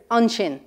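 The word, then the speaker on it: ansin: The word for there is unshin. Unshin. Right there, your shin.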